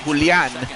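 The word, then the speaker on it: Julián: I mean, you have Julian or or as it's pronounced in Spanish, Pulan Fernandez.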